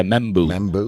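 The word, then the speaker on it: Membou: Or membu. Is that how you say it? Yeah, membu.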